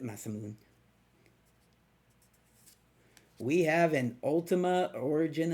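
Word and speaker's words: Masamune: We have a Masamoon, Masmoon, however you want to pronounce that. I pronounce it Masamoon.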